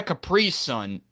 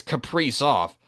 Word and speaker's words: Kaprizov: It's not a Caprice Sun, it's Caprice off. And I'll say it again. Kirill Kaprizov, who I've said his name wrong for so long, has still been so good.